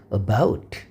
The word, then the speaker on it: about: 자, 여러분들 보면 단어 발음표 보면 이렇게 강세가 있죠. 이 강세 표시는 이 강세를 그럼 강세가 없는 발음들은 약하게 발음하고 이때 강세가 있는 발음을 강하게 하는 것입니다. 그래서 이것들은 about, 영어는 리듬이 있는 언어로 앞으로 설명을 더 드리겠습니다. 그러나 중요한 것은 반드시 강세를 정확하게 발음을 해야 된다. 강세를 내지 않으면 그네들은 미국 사람들은 못 알아듣습니다.